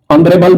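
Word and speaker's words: honourable: प्रयोग हमने किया है honest man ऑनरेबल मैन एच का उच्चारण साइलेंट हो गया है और ओ का उच्चारण है इसलिए इसके पहले एन है हमरस मैन इसका हमरस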